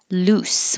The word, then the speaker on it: loose: 31, loose, which means not tight, loose. It's an oo and an s, loose.